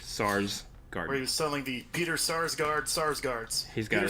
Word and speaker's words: Sarsgaard: a source card Peter Sarsgaard SARS guards who knew at S&L would be the thing to make sure you pronounce that name exactly right because otherwise you're going with still a large guard yeah well they're brothers